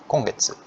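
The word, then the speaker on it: 今月: Jadi minasan bisa lihat ini kanji ima, ini juga ima, ini ima, tapi bacanya beda semua. Ini bacanya kyo, ini bacanya kong, kongetsu, ini bacanya kotoshi.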